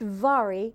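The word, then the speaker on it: Mhairi: glorious and it's pronounced Vari but it's spelled m-h-m-h-a-i-r-i which is really challenging it's Gaelic for Mary it's in the m and the H make a v in the Gaelic language the Gaelic language that's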